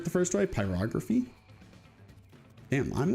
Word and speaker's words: pyrography: Pyrography.